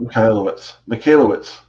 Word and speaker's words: Michalowicz: Michalowicz. Sorry, Mike. Michalowicz. I probably butchered it too.